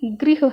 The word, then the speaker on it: गृह: वाले को देखिए आप दूसरे वाले में इसका उच्चारण कि ग्रह नहीं है गृह है क्योंकि इसके पैर में रीड की मात्रा लगी है कौन सा होता